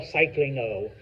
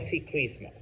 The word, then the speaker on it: ciclismo: So it's not like el ciclingo, all right, or el cicling. No, el ciclismo.